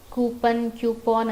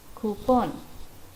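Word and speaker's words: coupon: ಕ್ಯೂಪಾನ್ ಅಂತ ಏನಿಲ್ಲ, ಕ್ಯೂಪನ್ ಅಂತಲೂ ಹೇಳಬಾರ್ದು, ಇಟ್ ಈಸ್ ಕೂಪನ್.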